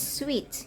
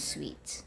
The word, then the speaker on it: suite: page is actually seen so it's pronounced as sweet meta business Suite okay suit s sweets